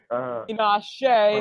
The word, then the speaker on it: Tinashe: Or I don't know if that's how you pronounce it. No. Tinashe.